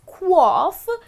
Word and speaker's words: quaff: And then the last one that I have for you is quaff. Well, that's how it should be pronounced, as quaff.